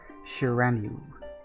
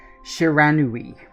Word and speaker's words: Shiranui: This wolf, its coat as brilliant as snow, was dubbed Shiranu. Hang on. You'll have to forgive my pronunciation of some of these names. I've always been rubbish at a few of them. Shiranui.